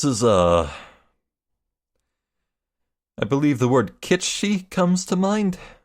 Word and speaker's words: kitsch: Wow, this is, I believe the word kitschy comes to mind. How do you pronounce it? Kitschki?